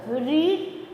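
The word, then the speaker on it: read: For example रीड past tense में भी रीड लिखा जाता है। लेकिन एक चीज है इसका प्रोनाउंसिएशन डिफरेंट होता है। हम बेस फॉर्म में रीड बुलाते हैं और पास्ट टेंस में रेड बोलते हैं।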